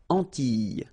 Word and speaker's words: Antilles: So final S and E, really, you don't pronounce them. So you get this I, I sound. Antilles.